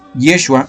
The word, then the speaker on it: Yeshua: es el más correcto, tendríamos que pronunciar entonces Yeshua o Yeshua, no Jesús, porque Jesús viene de la palabra Jehová, Yeshua o Yeshua viene de la palabra Yahvé.